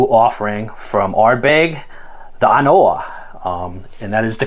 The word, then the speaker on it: An Oa: a relatively new offering from our bag the anoa um and that is the correct way that it's pronounced it's not on oah how it seems but it's uh kind of